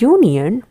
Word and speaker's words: union: But instead, the word union represents the Y sound, U. U sound, it's actually the Y which is a consonant.